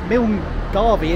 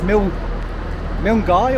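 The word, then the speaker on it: Milngavie: So it's not Milngarvey, it's Milngarvey or something like that.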